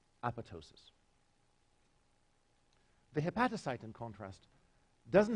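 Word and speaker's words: apoptosis: cell death apatow --ss learned for life to pronounce this word with the second piece silent Apatow psious the hepatocyte in contrast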